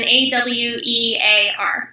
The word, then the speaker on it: Awear: It's spelled like wear, so it's Artfully and then Awear.